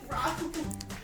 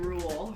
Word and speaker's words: Raoul: Raul's? Raul's. Okay, I said it rightish. Thank you. Raul. Raoul. Say it again. Cause you're still saying rule. Raoul? Raul. Good enough.